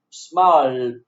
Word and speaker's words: smiled: You can see smile, the base verb of smile ends in voiceless sound e, but in its phonetic, you don't see e. You see l, l. L is voiced consonant sound, so ed is pronounced in voiced consonant sound too.